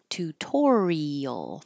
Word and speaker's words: tutorial: all sound like er tutorial tutorial this is a good example of the I and the a going in separate syllables and being heard individually eel tutorial this the can